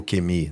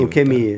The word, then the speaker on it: ukemi: E aí o Kemi, né, que vai ter os caras que vão falar, não é o Kem, é o Kemi, ukemi.